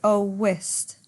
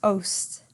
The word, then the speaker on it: owest: Notice owest becomes 1 syllable. In fact, Shakespeare there with that apostrophe has taken out an E to make it have 1 syllable. Otherwise it would say owest. 2 syllables, but by taking it out it becomes ost, 1 syllable, right?